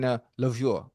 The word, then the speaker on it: Louvre: And Jerry Rice's route running belongs in the Louvre, Museum out there. Louvre. How you say it? The Louvre. In the Louvre. Oh, the Louvre? Yes.